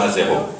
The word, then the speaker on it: Azéro: Je m'appelle Azéro, je suis un conteur, vous savez devant vous le conteur Azéro.